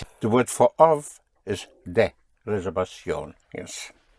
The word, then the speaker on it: reservación: So the V, pronounced with your lips, like your soft B.